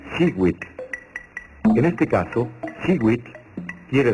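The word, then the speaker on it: xihuitl: Cada cuadrete contiene el color turquesa, que se pronuncia Siwit.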